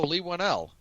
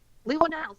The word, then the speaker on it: Leigh Whannell: It's written and directed by Leigh Whannell, if I'm pronouncing his last name right. Oh, Leigh Whannell. Leigh Whannell, thank you.